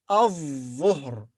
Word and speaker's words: الظهر: This word starts with al, which means the, but lam here is silent. So we say الظهر, الظهر.